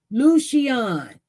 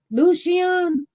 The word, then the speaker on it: Lucian: Lucian, that's how you're going to pronounce his name, Lucian. Oh, that's beautiful. Lucian, that's how to pronounce his name, Lucian.